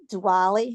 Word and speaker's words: Diwali: And one day at lunch we're talking because it was coming up to this time of the year when they celebrate Diwali.